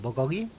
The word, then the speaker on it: bulgogi: How do you pronounce the bottom one? Bulgogi.